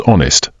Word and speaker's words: honest: a once famous writer words beginning with the letter H who when the H is Silent not pronounced such as honest our honorable always use a notter in these cases examples an honest life articles are considered